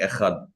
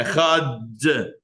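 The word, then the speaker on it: אחד: prolong the Dalet, but provided that he does not hurry the pronunciation of the letter Chet. So which one is it? What's going on here? So you prolong the Dalet, but you can't swallow the Ches.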